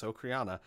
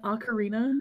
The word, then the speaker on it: ocarina: And yes, Okriana, how do you pronounce that? Okriana? You mean an ocarina?